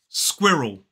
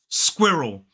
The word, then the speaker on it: squirrel: syllable word squirrel squirrel two syllables the stress falls on the first syllable so it isw and then we have the I sound squ and then we voice the r but the r kind of moves moves over into the second syllable in front of that schw so it becomes squ R notice that that L is the dark l o squirrel make sure you're